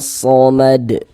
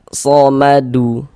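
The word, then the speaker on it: الصمد: Nah, Allah somad. Nah, ini sama nih. Ini kita baca mad. Nah, jangan dibaca somadu baru berwakaqf baru berhenti. Gitu. Jangan ya.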